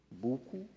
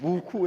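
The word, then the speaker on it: Buccoo: new five-star internationally branded Resort Hotel on the Buu did I get it right buku estate in Tobago I I know it as Buu but I understand buku is correct pronunciation just like ostin SK is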